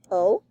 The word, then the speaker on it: au: other okay so o it is pronounced o just like that so let's make this